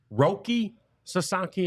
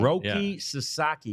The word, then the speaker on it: Roki Sasaki: Shady Rays so we did not get to Roki saki is that that's how you that's how you say it Roki Sasaki we were meaning to talk about him in